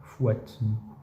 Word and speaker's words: Fouad: Fouat. Enfin, ça s'écrit Fouad, ça se dit Fouad. Bon. Fouat, du coup.